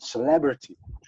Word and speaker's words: celebrity: But in English, you have to do it on the second syllable, so development and celebrity.